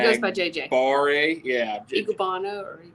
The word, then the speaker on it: Enagbare: Igubana or Igubara. Enagbare. I can spell it because I'm a writer.